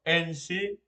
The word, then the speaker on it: ensi: Porque tenemos, por ejemplo, ensi se escribe patesi, pa-te-si.